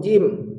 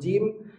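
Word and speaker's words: ج: Kalau ada bunyi ha-nya, coba pindahkan tengah lidahnya, naiknya agak langit-langit belakang. Ja, jangan terlalu ke depan. Jangan jangan, tapi ja, ji, ju. Nah, ini sering juga pengucapan huruf jim yang makhrajnya langit-langitnya terlalu, tengah lidahnya menempat ke langit-langit yang bagian terlalu depan. Agak ke belakang supaya bunyi jimnya tidak ada ha-nya.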